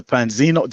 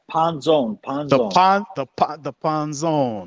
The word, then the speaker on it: Panzone: If you're ever around, make sure you purchase a Nick, the Panzino. Am I saying it right? Panzone. The Panzone.